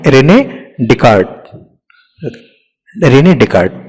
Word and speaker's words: Descartes: तो एक प्रोनाउंसिएशन उनका है रेने डिकार्ट, रेने डिकार्ट, तो ऐसे भी आप प्रोनाउंस कर सकते हो.